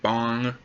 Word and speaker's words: Bang: It's spelled bang, it's pronounced bong.